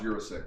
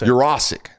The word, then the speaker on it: Yurosek: It's not pronounced Yurosek.